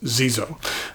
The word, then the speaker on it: Xezo: previously reviewed and that company is Zeo uh and that's spelled XE Zoo uh the pen I